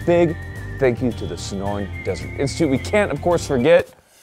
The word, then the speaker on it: Sonoran Desert Institute: The Sonoran Desert Institute.